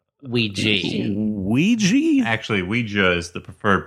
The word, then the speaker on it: Ouija: on tonight's episode we watched Ouija Ouija Ouija actually Ouija is the preferred pronunciation by who no one on the dictionaries